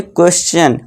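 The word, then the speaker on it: question: क्वेश्चन।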